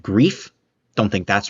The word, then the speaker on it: Grefe: Grifa? Grayfa? I heard a pronunciation said grief. Don't think that's right, but it could be. Going to go with Grayfa because apparently that's how you pronounce it in German.